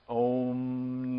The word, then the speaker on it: om: to our own innermost it's pronounced om you can extend those vowels for this to become